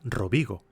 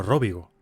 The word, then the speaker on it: Robigo: Quizá se pronuncia Robigo y no Róbigo.